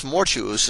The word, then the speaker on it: mortuus: For thus mortuus is pronounced like fatuus, arduus, conspicuous, and similar words, which are not perfect participles but adjectives, and are declined without regard to tense.